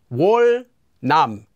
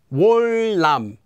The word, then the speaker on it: 월남: Anytime it comes before or after the consonant 니은, that consonant 니은 will also become pronounced like a 릴. So here are some examples of that. 월남, 월남, 월남.